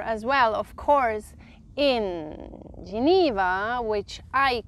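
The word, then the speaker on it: Genève: one so here as well of course in Geneva which I call Camp and yes I say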